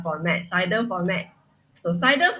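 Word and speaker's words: CIDR: format CER format so cider format we pronounce this as slash slash 29 okay so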